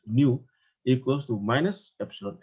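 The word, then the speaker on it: ν: So the Poisson ratio, nu, yeah, this is a Greek letter, we pronounce it as nu, equals to minus epsilon L over epsilon.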